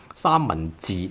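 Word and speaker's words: 三文治: 三文通 6, 字通 5, 三文治 sandwich, 三文治.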